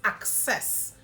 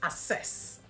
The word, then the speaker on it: access: So you have, even though it's spelled as A-C-C, how to pronounce that is ac. So it's access, not assess.